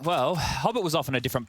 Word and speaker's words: Hobbit: have a fight here Hobbit rhymes with popit like the flashes will